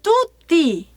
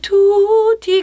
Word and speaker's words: tutti: 미국 사람이니까 약간 그러니까 원래 이태리 발음으로 하면 리뚜띠 뚜띠 이걸 되게 아주 된 발음을 뚜띠예요. 뚜띠. 근데 이 리투티비 약간 미국 사람들이 그렇게 발음을 해요. 투티비보노. 그래서 그 원곡을 듣고 부르시다 보니 한국 분들도 이 투티 근데 원래 뚜띠예요. 이태리식의 발음을 해주신다면 뚜띠라고 발음을 해주시는 게 좋을 것 같고 한번 제가 그냥 가사만 쭉 읽어드린다면요.